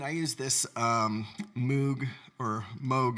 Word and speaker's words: Moog: And I use this Moog, or Moog is the correct pronunciation, but I like to say Moog, so I'm going to call it a Moog, control pedal, and it's a beast.